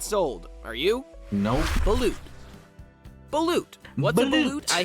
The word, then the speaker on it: balut: It's actually pronounced balut.